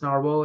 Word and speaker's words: Nahvalur: The new name is still being pronounced as Narwhal. It's the Icelandic version of the word Narwhal.